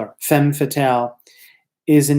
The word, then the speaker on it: femme fatale: it was called the femme fatale which is pronounced found fatale which is spelled fe mme fa ta la femme fatale a femme fatale is a name given to this bold dynamic